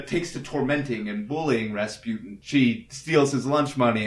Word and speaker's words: Rasputin: I would say Rasputin. Oh, okay. I thought it was like a raspberry pun. I originally just thought it rhymes with Tootin', but then I realized, there's overtones.